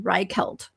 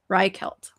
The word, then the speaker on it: Reichelt: The tailor was friends I had I had the pronunciation, hang on. Reichelt. Reichelt.